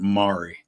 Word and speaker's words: Maury: Although they pronounce it down there, they pronounce it Mari. So a lot of times it's spelled like M-A-U-R-Y.